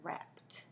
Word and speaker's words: wrapped: the beginning is silent that W is silent at the beginning of that word that word is wrapped like you wrapped a